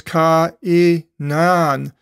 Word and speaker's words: Cainan: There's the double dot, diaresis, So you split the pronunciation with each letter of the vowel, the alpha and the iota. So it's ka-i-nan.